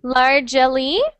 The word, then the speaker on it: largely: So instead of largely, it's just 2 syllables. So you just say largely.